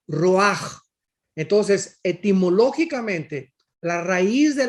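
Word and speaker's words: רוח: Roach con ch porque la ch en el hebreo se pronuncia como J raj entonces etimológicamente la raíz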